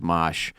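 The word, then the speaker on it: Mache: It's the Mosh dude, his name is M-A-C-H-E, and it's pronounced Mosh.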